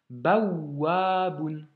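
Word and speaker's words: بوّاب: Tu vois, ici, le waouh possède une shedda, donc on doit insister, appuyer, donc doubler cette consonne finalement, et elle est suivie de la voyelle A. Donc, baouaboun.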